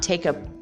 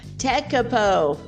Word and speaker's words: Tekapo: Maybe it's not Tekapu. It's definitely not Tekapu. Tekapo.